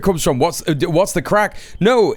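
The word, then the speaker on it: craic: What's What's the crack? No, it's an Irish thing. What's the crack? Crack spelled like this in Irish.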